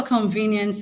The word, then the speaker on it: convenience: Now the the stress for convenience is not on on the first syllable. It is on the second syllable. Why? Because the second syllable where we had V has a long syllable.